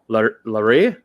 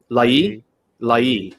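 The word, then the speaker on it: Laryea: How do we say it? Lai. So that we used to call him Richie Larie. He corrected everyone on how you pronounce his name, which is, say it again, David. Richie Lai.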